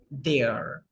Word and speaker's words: they're: Okay, we pronounce it like this, there. When we combine those two words, we pronounce them like this, there.